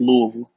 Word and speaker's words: Louisville: ain't got to put too much emphasis on the Louis. It's just Louisville.